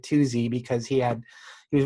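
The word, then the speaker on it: Tooze: named uh twosie rogers so t-double-o-z-e but i think he pronounced it two-z because he had he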